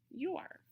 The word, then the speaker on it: your: Say the letters and the sounds with me. Y, yeah. O, and U stand for the oo. R, and then the E is silent. Listen as I slowly blend the sounds to read the word.